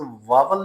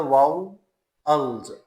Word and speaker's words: vowels: और इसी तरह ये लफ्ज़ वावल नहीं होता, ये लफ्ज़ होता है वाउल्स, अल पे हल्का सा स्ट्रेस आएगा, वाउल्स, वाउल्स।